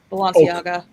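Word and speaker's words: Balenciaga: it pronounced balanciaga balanciaga okay yeah balanciaga coacher thank you congrats to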